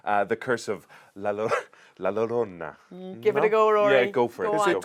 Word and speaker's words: La Llorona: it's the curse of La Llorona yeah go for it cuz it's a double L it actually doesn't get